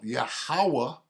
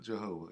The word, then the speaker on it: Yahweh: Yahweh, that's how you say it, not Jehovah.